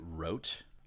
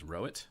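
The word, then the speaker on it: Wroat: Some people pronounce it Rote. I always pronounced it Rote, but I also never said it out loud. Like I mentally pronounce it as Rote. Keith pronounces it as Rowit, so I pronounce it as Rowit.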